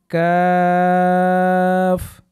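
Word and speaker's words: ك: এরপরে রূপে যাব আমরা কফ, সুন্দরভাবে বলুন গলার ভিতর থেকে কফ। এরপরে কাফ, আপনিও চমৎকারভাবে বলার চেষ্টা করুন। এই হরফগুলো বললে প্রতিটি হরফে 10টি করে নেকি পাওয়া যাবে। আর একবার বলুন কাফ।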